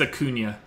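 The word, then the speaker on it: Acuña: lefties really well oh we have fun peoples pronunciation so it's a Cunha a Cunha okay I thought so not even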